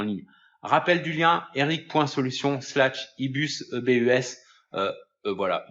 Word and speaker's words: ebus: Rappel du lien, eric.solution/ebus, E-B-U-S, voilà, donc ebus si on prononce à la française.